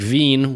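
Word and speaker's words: Wien: know I had many German students who would pronounce the e I and II's you know so so like like Veen which is German for Vienna and then vine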